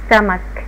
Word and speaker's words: stomach: to the stomach للمعدة stomach ستا ال او او بس تتنطق ستا stomach والسي اتش اتنطقت كي في معدة في المعدة السي اتش اتنطقت كي، يبقى الاكل بينتقل من المريء للمعدة.